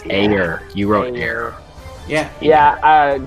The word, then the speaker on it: Ayer: I know I spelled his name, last name wrong, but David Ayer. We'll go to Jay. I have David Ayer. A-Y-E. It's Ayer.